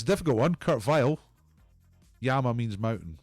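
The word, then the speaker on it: Kurt Weill: He's Kurt Vile, and he rhymes with Argyle. Kurt Vile, Argyle. 1 year out.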